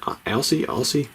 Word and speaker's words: Aussie: Is it Aussie? So we have this hair stuff that my wife uses. She calls it Aussie, like O-Z-Z-I-E, but I think it's spelled kind of like that.